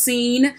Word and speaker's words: Sin: to seeing and either even though it's spelled sin it's pronounced seen it's in the Sinai